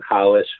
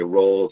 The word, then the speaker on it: Rolls: So people know about Rickson and Hollish, where you say rolls or holds, but Hollish is the right way to pronounce that.